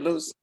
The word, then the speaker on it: Luz: say it right, Luce?